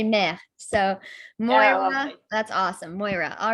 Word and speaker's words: Maire: It's Moira. It's Moira. Okay. I'm French, so I was going to say Maire. So Moira, that's awesome.